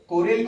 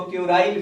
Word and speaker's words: Kuril: कुछ लोग इसको क्यूराइल भी हिंदी के किताबों में लिखा रहता है, लेकिन स्पेलिंग है KURIL, LE नहीं है, KURIL, इसलिए क्यूराइल कहना उतना उपयुक्त नहीं है, कोरिल ही कहना ज्यादा उचित है।